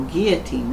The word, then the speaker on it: guillotine: head no they guillotine what how do you pronounce that word again guillotine guillotine Oh guillotine that's right what is the holy roman empire